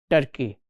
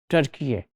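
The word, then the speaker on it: Türkiye: Now, these days we don't pronounce it Turkey. In Urdu they call it Turkiye, and it is spelled as I have done here, and we will pronounce it as Turkiye.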